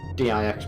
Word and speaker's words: dix: Pawn so yeah 10 in French Dix pronounced d hence didy fantastic little